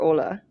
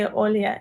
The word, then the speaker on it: Olya: Would you prefer us to call you or Ola? You can call me Olya.